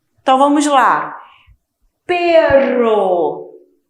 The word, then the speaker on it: perro: Ó a diferença do som. Perro. Perro. Perro. Cachorro em espanhol, tá? E pero é uma conjunção que significa porém. Raton. Então, olha só a pronúncia. No meio da palavra, som vibrante. Perro. No início, também o som é bem vibrante. Raton. A língua treme dentro da boca.